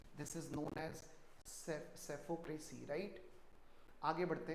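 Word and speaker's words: psephocracy: देखो ये सेफो है, पी हैज टू be silent over here, this is सेफो नॉट सेफ्लो, इट इज।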